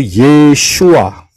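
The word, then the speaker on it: ישוע: melalui pintu yang benar yaitu yesua Yod Shin W Ayin empat huruf Yod Shin W Ayen bukan yahua bukan yahosua atau siapapun yesua ysin yang adalah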